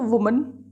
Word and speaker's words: women: Singular के साथ हो वुमन, सिंगुलर एक महिला वुमन, और प्लूरल जब कई महिला हों, एक से ज़्यादा हों, तो वो विमेन। इसमें प्रोनाउंसिएशन भी चेंज हो जाती है इसकी, वुमन विमेन, राइट।